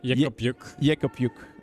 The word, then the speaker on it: Jück: roll behind the guards pronunciation probably like you would read in Flemish so yuk okay thank you very